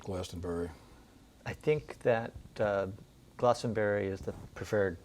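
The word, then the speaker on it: Glastenbury: I think that uh Glossenberry is the preferred pronunciation.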